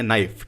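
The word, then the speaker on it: knife: आप यहां पर देखेंगे नाइफ के एन आई एफ ई है लेकिन इसमें के साइलेंट है ऑनेस्ट एच ओ एन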